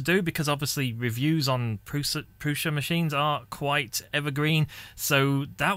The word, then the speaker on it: Prusa: It's really hard for me not to say Prusa. It is pronounced Prusa. As per the filament box, look, see? It's not actually, it's just that's the closest I can do.